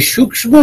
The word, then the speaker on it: সূক্ষ্ম: আরেকটা হচ্ছে সূক্ষ্ম শরীর। এই সূ্ম শরীর যেটা সূক্ষ্ম মানে সূক্ষ। আমরা বাংলায় সূক্ষ বলি। কিন্তু উচ্চারণ তো সূ্ম।